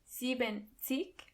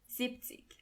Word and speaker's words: siebzig: When you want to say 70, you don't say siebenzig, but you only say siebzig. In a way, it does make sense because it's easier to pronounce.